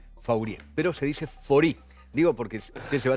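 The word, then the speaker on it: Faurie: nos queda Jorge Marcelo fori eh se pronuncia de esa manera pero se escribe fauri eh un apellido bien Francés fau pero se dice fori digo porque usted se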